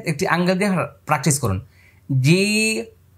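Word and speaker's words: جيم: angle দিয়ে practice করুন জিম যদি দাঁতের সঙ্গে দাঁত লেগে যায় তাহলে কিন্তু মানে আরেকটি হরফ হয়ে যাবে দেখেন জিম জিম তাইলে যা হয়ে যাবে মারাত্মক ভুল হবে এজন্য দাঁত ফাঁকা রাখতে হবে জি দেখছেন জিহ্বার মধ্যখানে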